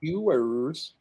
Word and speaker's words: Ewers: But, man, it's so interesting in the quarterback world because a guy like Quinn Ewers, is that how you say it? Yeah. I mean, Ewers.